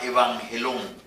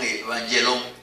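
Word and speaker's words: εὐαγγέλιον: Esa es una palabra griega que se llama evangelón, aproximadamente por ahí. No me jacto de pronunciar bien el griego, pero por ahí va. evangelón, evangelón.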